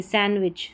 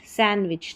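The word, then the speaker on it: sandwich: ये है हैंडकरचीफ नहीं, हैंडकरचीफ, हैंडकरचीफ डी साइलेंट है। सैंडविच नहीं, सैंडविच, सैंडविच।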